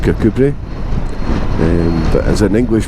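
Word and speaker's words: Kirkcudbright: doesn't matter uh most people will know that kod bright is actually pronounced kbri um but as an English person if you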